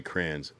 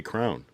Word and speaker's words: crayon: Uh Tundra said crayons. That's how I say it. Uh AJ said crayon. I don't say a crayon. I say crayons. And then some people do say crown. They pronounce it as crown.